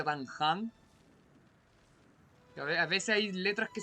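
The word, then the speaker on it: Dan Heng: Pero a veces lo que pasa como Dan Han, que se escribe Dan Hen, pero se pronuncia Dan Han.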